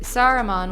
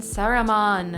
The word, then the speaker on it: Saruman: Sauron and Saruman. Oh, yeah, those are not there's different. There's an entire extra syllable in Saruman.